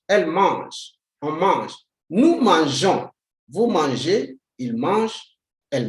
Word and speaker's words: mangeons: The E does not sound to say nous mangeons, like how some people pronounce it. But you say nous mangeons, simply because the G is before a vowel like O. If you do not bring the E, the G will sound K to give you the sound